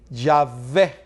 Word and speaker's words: Yahvé: Porque en el idioma latino, la palabra W que no se menciona. ¿Cómo nosotros lo nombramos la palabra W? La V. Yahvé.